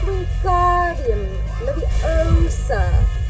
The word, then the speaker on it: Wingardium: You're saying it wrong, Harry heard Hermione snap. It's Wingardium Leviosa, with the gar nice and long.